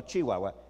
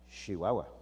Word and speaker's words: Chihuahua: chihuahua church es igual hay que pronunciarlo correctamente no chihuahua chihuahua a dónde va a